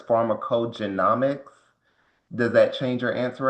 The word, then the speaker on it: pharmacogenomics: I think I was pronouncing the word incorrectly. It seems like it's pharmacogenomics.